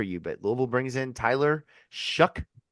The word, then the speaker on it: Tyler Shough: But Louisville brings in Tyler Shough, spelled not like that, but that's how you pronounce it.